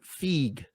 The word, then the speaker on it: FEG: human words if you're if you're a Hungarian individual you would know to pronounce it fig I I I'm aware